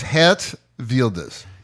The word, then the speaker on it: Geert Wilders: in solve the problem how do you say your name velders it's hat velders I think it's anything but jean Wilder yeah yeah W um